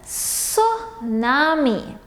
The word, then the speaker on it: tsunami: me so nami so the letter t is silent in this word so you don't hear that sound it's pronounced as suh nami now a tsunami is